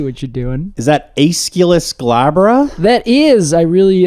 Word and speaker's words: Aesculus: wrong it's just different is it escalus uh I would just do escalus escalus yes I wouldn't I wouldn't put so much emphasis on the U the U I see